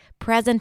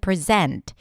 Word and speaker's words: present: What makes the difference between content and content, present and present.